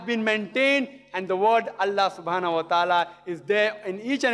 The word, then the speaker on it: Allah: god almighty is allah they write to that i ela but when you pronounce it we have to tell them pronounce it as allah salaam alaikum my